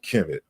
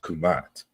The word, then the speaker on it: Kmt: so like you know you're so fixated on Kim but really it's pronounced kumat right like negro like